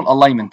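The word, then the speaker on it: alignment: الجزء ده بقى اسمه الالاينمنت. الالاينمنت دي الجي برضو سايلنت. الالاينمنت يعني ايه الاين؟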